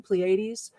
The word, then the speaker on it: Pleiades: to learn a little bit more about the pleiades and all that stuff or did i say it right even pleiades yeah but yes yes only because i looked